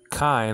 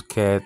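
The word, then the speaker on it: καί: Kai, now they pronounce ke, tain, gain, the earth.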